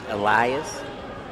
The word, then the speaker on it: Elias: Matt, I believe Natasha pronounces her name Elias.